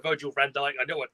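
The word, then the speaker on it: Virgil van Dijk: got even more for us to win than virgin Van Dyke Virgil Van Dyke I know I'd say it wrong so got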